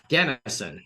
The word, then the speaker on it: Ganesan: everybody we're back with Annie Gan um Gan ganison is that am I saying it correctly yeah